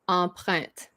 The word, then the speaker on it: empreinte: I would say empreinte. Empreinte. Print. Print. Why are you pronouncing the T at the end? Oh, but it's not a T at. Oh, okay, it's not a silent. That's another word. That's another rule that I should explain.